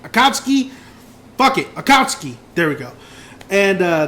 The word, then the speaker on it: Akatsuki: I can never say it right Akatsuki bucket Akatsuki there we go and uh that's the only